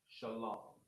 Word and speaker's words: shalom: oppression all right and they want to say Charlotte Wong that's incorrect as well all right it's going to be pronounced shalom all right so I